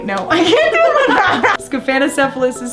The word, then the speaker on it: Scaphanocephalus: The parasite is called Scaphanocephalus. And how you spell that is S-C-A-P-H-A-N.